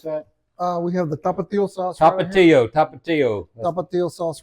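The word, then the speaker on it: Tapatío: Tell me again how to pronounce that. We have the tapatio sauce.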